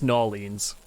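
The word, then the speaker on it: New Orleans: And don't worry, I know the correct pronunciation of the first one. It's Norleans. It all blends into one word.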